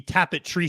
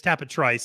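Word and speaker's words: Tapit Trice: a conversation about like that it should be tapetry say at some point yeah yeah oh no it's Forte and it's tap a Trice and that's the way we're pronouncing it and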